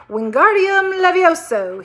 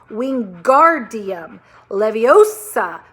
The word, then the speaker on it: Wingardium Leviosa: Wingardium Levioso, he shouted, waving his long arms like a windmill. You're saying it wrong, Harry heard Hermione snap. It's Wingardium Leviosa. Make the gar nice and long.